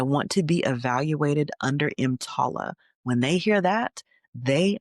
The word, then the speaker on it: EMTALA: It's called EMTALA. It's spelled E-M as in Mary, T-A-L-A.